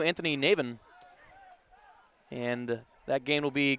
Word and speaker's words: Navin: Navin. We're saying Navin, Navin. They're saying Navon up on Navin. It's Navin. Navin.